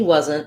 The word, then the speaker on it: wasn't: on what's next but in a word like wasn't wasn't we're going to use the stop t even if there's a vowel here if i was doing